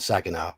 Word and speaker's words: Saginaw: I'm pronouncing it right now, Clio and Saginaw, because one of the adventures in this book, I reviewed it and pronounced both those city names completely wrongly.